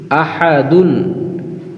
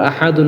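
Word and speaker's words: أَحَد: আ হা জবর হা তাল দুই পেশ দুন আহাদুন কিন্তু আমরা আহাদুন বলবো না ওয়াকফের সময় এখানে যেহেতু আমরা থামবো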